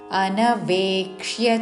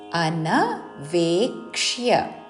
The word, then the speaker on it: అనవేక్ష్య: అనుబంధం క్షయం హింసాం అనవేక్ష్య చ పౌరుషం. అనవేక్ష్య అన్వేక్ష కాదు, అనవేక్ష్య క్షాకి యావత్తుతో అనవేక్ష్య చ పౌరుషం ప ఔత్వముతో పౌరుషం అనవేక్ష్య చ పౌరుషం.